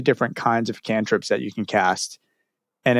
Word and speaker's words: cantrips: Cantraps is like Abracadaniel, Lady Rainicorn, Magic Man. Cantrips? Cantrips, yeah. It's spelled why cantraps.